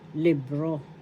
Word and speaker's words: libro: In Spanish, libro. Libro. The first syllable is lib. Second syllable is ro. The accent is in the second syllable, libro.